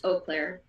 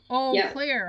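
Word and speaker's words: Eau Claire: CLA is like two hours from him it's pronounced o Clair o Clair huh e e Au e it's oh okay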